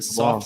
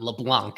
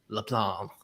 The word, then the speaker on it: LeBlanc: We're going to do the LeBlanc. soft C at the end, or the silent C, not LeBlanc, as we've been doing on months here. LeBlanc, something like that.